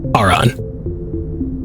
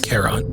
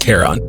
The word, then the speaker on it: Charon: Translation of Prothean data leads humans to it's Charon. No, it's Charon. It's a Greek area across the river Styx, I know, but I think it's pronounced Charon.